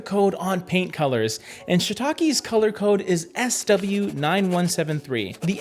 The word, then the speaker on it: Shiitake: I want to clarify, I could say Shiitake and get a really nice Japanese pronunciation, but just for the sake of this video, we'll stick to Shiitake, okay?